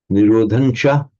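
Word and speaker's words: nirodhañca: By the way, this Nirodhancha, it can equally correctly be written with the Anuswara. Nirodhancha, Nirodhancha, they'd be pronounced exactly the same.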